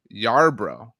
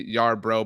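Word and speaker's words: Yarbrough: um on Twitter Anthony Yar bro but the the Bro in their last name is b r o u g but the Twitter handle is like bro like brother um tweeted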